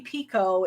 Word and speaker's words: Picoult: That's how you say her name, Picoult.